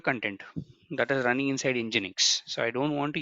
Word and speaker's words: nginx: you what is nginx it's telling engine X the pronunciation is this one it's a HTTP reverse